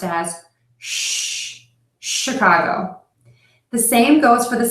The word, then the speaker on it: Chicago: of our city is Chicago not Chicago so it's not the CH sound it's Chicago not Chicago Chicago how